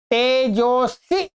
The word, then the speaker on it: तेजोऽसि: ओम तेजोस। ठीक है? तेजोस ये तो चिन्ह है। इसका उच्चारण नहीं होता।